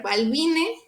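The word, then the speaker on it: balbinae: En este caso, la AE se va a pronunciar como E. Entonces va a ser Balbine y Carlie.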